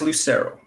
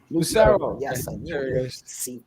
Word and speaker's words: Lucero: last name for us because i think i butchered it it is lucero lucero all right man so welcome welcome to catch